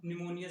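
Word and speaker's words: pneumonia: ठीक, देखिए 8वां है निमोनिया। ठीक, निमोनिया, निमोनिया देखना भाई, ये पी से स्टार्ट होता है। ठीक, पी साइलेंट रहता है, निमोनिया, जिसे हिंदी में निमोनिया कहते हैं।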